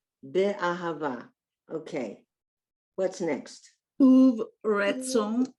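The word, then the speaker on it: אהבה: In the middle of a word or in the beginning, you get an H sound. Be, ahava.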